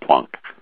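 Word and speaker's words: Planck: original language you should be saying Einstein and plunk okay so if I if I understand you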